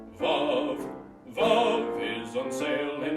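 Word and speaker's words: Vauv: Vav is the name of our new magic powder, spelt V-A-U-V, pronounced Vav.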